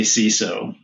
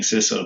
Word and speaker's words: CISO: Rob, is it is it siz or ciso? How do you like to say it? I always say CISO. CISO. Okay. I've heard you were saying siso before, but I've heard other people say that.